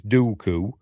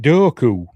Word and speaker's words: Dooku: Everybody says it's Dooku. George pronounces it Doku.